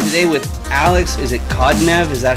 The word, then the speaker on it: Khodnev: Is it Khodnev? Is that how you pronounce that? Khodnev. Okay, Khodnev.